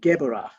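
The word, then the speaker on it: Geburah: it's spelled g-e-b-u-r-a-h but a b in the middle of the word is pronounced v so it's geborah from geborah we travel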